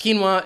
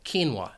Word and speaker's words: quinoa: Quinoa is a tall crop that you mainly find in Peru, Bolivia, or Chile. But the word does have 2 syllables. The stress is on that first syllable, quinoa.